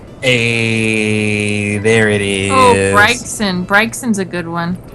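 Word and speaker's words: Braixen: Oh, Bryson. Bryson's a good one. Someone say Brixson. And I don't see how you can get that. Like who? Bryson. I say Bryson.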